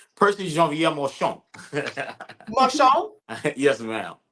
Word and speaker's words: Marchand: French thing, you got to say Percy Jean-Pierre Marchand. Marchand? Yes, ma'am. Sounds Okay. We usually say Marchand, though. Oh, okay, But yeah, Marchand. that's the proper pronunciation.